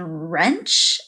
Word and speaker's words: wrench: the silent letter and our last example of a silent letter is W in wrench and rap and wrong they all begin with her but that silent W is there when W and r are together they make the sound these are all examples